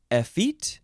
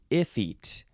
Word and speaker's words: effete: episode is a feat you can say effit or iFit it is spelled e f f e t e adjective from 1660.